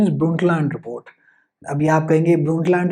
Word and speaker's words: Brundtland: You'll be like Brundtland, ये इसका actually pronunciation is Brundtland report.